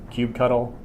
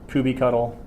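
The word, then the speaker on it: kubectl: through a tool called I call it cute CTL I've heard all of these different pronunciations cube cuddle Kuby cuddle I say cube CTL I've heard coop control I don't care what you say I believe that Kuby cuddle is the official one I'm gonna say a cube CTL because I can't bring myself to say coupie cuddle that much at once stick to whatever you're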